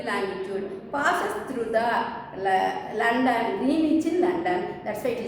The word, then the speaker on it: Greenwich: We should pronounce it as Greenwich, W silent. Okay, Greenwich longitude.